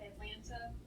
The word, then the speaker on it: Atlanta: you pronounce the capital Atlanta the t's silent oh yeah absolutely f